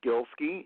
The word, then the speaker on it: Golaski: pronounced it just fine it's just two syllables Gil ski it's a Pollock name it's been Americanized it